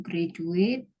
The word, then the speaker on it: graduate: Ya, tadi kalau graduate itu D-nya graduate, dibaca J, gitu.